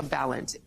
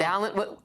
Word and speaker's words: Balint: And Congresswoman Becca Balint, Democrat from Vermont, joins me now. I want to first ask if I've pronounced your name correctly, Congresswoman. Balint. I always say Balint rhymes with talent. So Balint, and I love that.